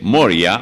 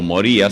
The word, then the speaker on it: Moria: En el monte Moria, o Moría, según como usted lo pronuncia, con H final, es el lugar donde estaba el templo de Salomón, donde hoy está la mezquita Omara.